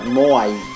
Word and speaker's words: Moai: How do you pronounce that? Moai. That's how you pronounce it in Japanese. Because, you know, they have one sound per syllable, so very easy.